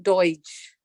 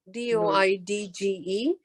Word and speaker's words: Doidge: I have read the Bessel van der Kolk's research is, hold on, say his name again, if you don't mind. Dr. Norman Deutsch, Doidge.